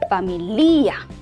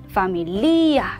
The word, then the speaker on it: familia: 모음으로 끝났네요. 강세가 어디 있을까요? 뒤에서 모음으로 끝났으니까 뒤에서 두 번째 오는 이에 있어요 하고 많은 학생분들이 familia, familia 라고 읽는데요.